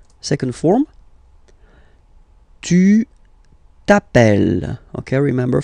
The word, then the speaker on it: tu t'appelles: Tu t'appelles. Okay, remember, final S not pronounced. Tu t'appelles.